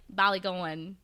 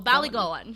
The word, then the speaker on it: Ballygowan: It's like Ballygowan. Like, they really like slide that last like "goan" in there. So Ballygowan.